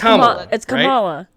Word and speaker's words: Kamala: kamala's harris name is that it kamala harris kamala harris it's kamala right yes yeah okay cause